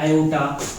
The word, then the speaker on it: iota: आई अर्थात इमेजिनरी, पर इसको आयोटा, IOTA आयोटा बोलते हैं, ये ग्रीक भाषा का शब्द है। आयोटा है, लोटा मत बोल देना, आयोटा इसलिए स्पेलिंग लिख दिया हूँ, आयोटा है ये।